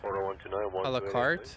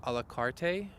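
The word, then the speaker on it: à la carte: I mean, I posted a YouTube video and I mispronounced the word alakart. I said alakarte.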